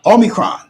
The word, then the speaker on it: omicron: you're from omicron is is how the greeks pronounce it okay okay are you